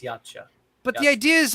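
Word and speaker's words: Yautja: By the way, that is how it's spelled, but it's still pronounced yacha.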